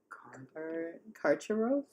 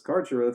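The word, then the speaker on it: Carcharoth: Karcharov is how I would say it as the river possum that I am.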